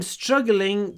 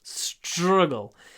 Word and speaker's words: struggling: And when you pronounce it, just remember, when it's at t-r, you need a nice sh in there. Struggling. Struggle. It's all about the sh at the beginning, and then the it almost disappears.